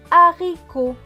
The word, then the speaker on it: haricot: Et le T à la fin est écrit en bleu, donc il ne se prononce pas. Ce mot va donc se lire A. Ri. Co. A. Ri. Co. Haricot.